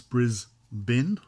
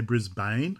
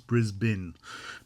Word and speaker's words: Brisbane: And note for my American um, viewers, it's Brisbin. Don't say Brisbane, it's Brisbin. B I N. I know it's not spelled like that. That's how it's pronounced.